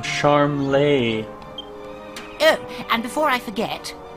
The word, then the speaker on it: Charmles: cold King Troad its sharm day who clocked just heads eventually we'll come to the Royal hunting ground that's where the initiations take place I've been saying it wrong the whole time sharm lay oh and before I